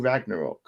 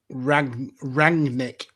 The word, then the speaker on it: Rangnick: I keep saying Ragnarok. Rangnick. Okay.